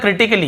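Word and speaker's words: critically: फिर देखिए क्रिटिकली, क्या होता है, क्रिटिकली, यहां पर भी ए का उच्चारण नहीं हो रहा है।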